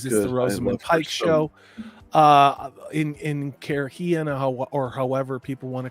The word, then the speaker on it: Cairhien: In Cairhien or however people want to correct me, that's the way I read it. I don't give a shit what it's. Yeah, okay. Karayan. Thank you. I don't know. I pronounce everything.